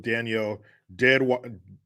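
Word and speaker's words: Danielle Deadwyler: Hughes says, I went to high school with Danielle Deadweiler.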